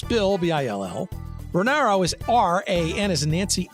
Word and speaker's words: Ranauro: I will spell it for you. It's Bill, B-I-L-L. Renauro is R-A-N as in Nancy, A-U-R-O.